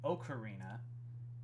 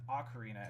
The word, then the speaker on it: ocarina: It's one of the words that has more than one correct pronunciation. Ocarina, as I say it, and ocarina, as Johnny says it, are both technically correct.